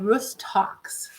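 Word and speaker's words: Rhus tox: to talk about is called roost talks and it's spelled r h u s rus and then talks tox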